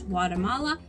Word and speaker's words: Guatemala: You might have heard of it in English, Guatemala, but how we pronounce it in Spanish is Guatemala.